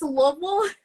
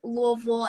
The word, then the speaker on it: Louisville: Louisville or Louisville oh yeah so it's it's Lille okay so it is pronounced if you're from here a lot of people from here pronounce it louville and if you're not from here then you